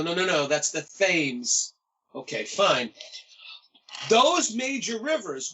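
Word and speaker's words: Thames: the River on the East and I am pronouncing this correctly if you're living in Connecticut the fames River when I first moved to Connecticut and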